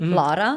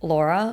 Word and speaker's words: Lara: He said because that's how you actually pronounce my name. Lara Lara. Not like Laura or Lara.